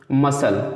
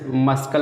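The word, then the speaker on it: muscle: जैसे दोस्तों देखते हैं मसल, ठीक है, तो इसमें ठीक है मस्कल नहीं पढ़ेंगे, सी क्योंकि साइलेंट हो जाएगा।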